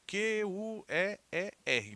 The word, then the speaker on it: queer: Queer, Q-U-E-E-R, pronuncia queer.